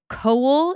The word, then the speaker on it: Coull: I do have an update on the Glasgow Willy Wonka experience, which is that the organizer, Billy Cowell, it's spelled Coull. There's no way to know.